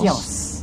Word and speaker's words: Chios: We had many ideas of how to pronounce this island's name until we got here, but we discovered everyone is saying Chios. Chios.